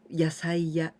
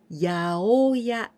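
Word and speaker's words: 八百屋: We don't say yasaiya like this, but we say yaoya, yaoya.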